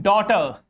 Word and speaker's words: daughter: In night, in high, in daughter, in high, GH is just after I. In daughter, GH is just after U. All these are vowels. That's why GH is silent in these words.